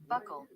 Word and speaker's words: Buccal: No, it's not spelled like buckle, that word. It's spelled Buccal. Buccal. Buccal is what Google says in American.